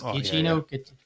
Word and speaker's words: Giacchino: And Michael Giacchino, I can never pronounce his name right. Is Giacchino?